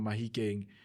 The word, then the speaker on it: Mahikeng: So certain clans within the Tswana language have different pronunciation of words. So Mafikeng or Mahikeng is where largely the Baralong people reside, and parts of their dialect is to use a H instead of an F.